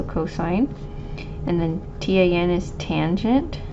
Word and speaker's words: cosine: So cosine, we just say COS, so cosine.